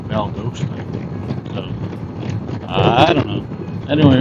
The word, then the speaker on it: Valdosta: I always thought it was Valdosta, but Google seems to pronounce it more like Valdosta.